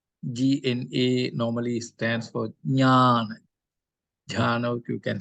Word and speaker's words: Jnana: Gyan, Gyan, not Jhana, Jnana. Gyan. Jnana. No, not Ja, Jnana, Jnana. Because Jnana. Jhana already there. It's Jnana. That's Jnana. why G-N-A-N-A, Jnana. You Basically, must differentiate.